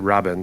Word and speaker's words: Rabin: Like every fucking Israeli person I've spoken to, which is like 3, I've heard say this, is they pronounce it Rabin.